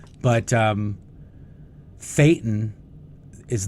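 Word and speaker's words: thetan: And a good way to that I always tell people to remind that to remember it is fatan rhymes with Satan.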